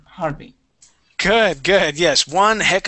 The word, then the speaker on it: Harvey: had Harvey again and you pronounced that that V perfectly at the very beginning when you uh when you said Harvey you pronounced it with a B okay but then you